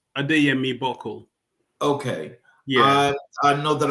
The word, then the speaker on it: Adeyemi-Buckle: The last name is pronounced Adeyemi-Buckle.